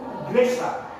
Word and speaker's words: igreja: Tulisnya igreja, tapi bacanya itu igreja, ya, igreja.